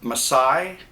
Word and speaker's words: Masai: wooden shell and I believe this model it's pronounced msai um is one of the four or five